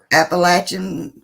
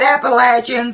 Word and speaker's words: Appalachian: The Appalachians or Appalachian region. Yeah. That you don't want to drive. Yeah, we said Appalachian.